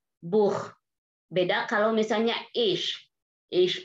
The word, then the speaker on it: Buch: Kalau Buch di sini CH-nya itu kental. Buch. Beda kalau misalnya ich. Ich itu agak tipis CH-nya. Ich liebe dich. Das Buch.